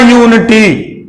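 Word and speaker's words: unity: करेंगे ए का प्रयोग, क्योंकि इसका जो उच्चारण है वह या से हो रहा है।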